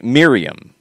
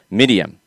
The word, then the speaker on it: Miriam: The R sounds more like a W, or sorry, not a W, a D. To the point that you would have her tell people, no, my name is Medium. Like Medium. Mm-hmm. Like not big, small, not Medium. Small or large. Medium, but because that is closer to the correct pronunciation.